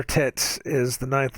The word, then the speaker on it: tet: hebrew alphabet is called tet this says rhymes with mate as in tate tet that's what the guy